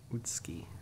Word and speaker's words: Utsuki: Wasn't gonna pronounce it that way. Utsuki. It's like the U in the middle is gone.